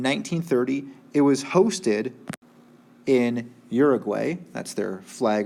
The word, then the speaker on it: Uruguay: stadium all right so Uruguay or equai I think is more locally how it's pronounced but we'll go with the more English version Uruguay ok let's look here